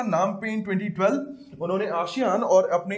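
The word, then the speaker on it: Phnom Penh: Cambodia की capital है नाम पेन, स्पेलिंग इसकी P से चालू होती है ना, P इज साइलेंट, राइट।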